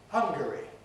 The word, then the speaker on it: Hungary: compress the name of the country hungary where hungarians live that has a schwa we can't say hungary but can we say hungry no we can't and i suppose the reason is avoidance of homophonic clash that is we don't want it to make it sound we don't want to make it sound like hungry wanting food no it doesn't stop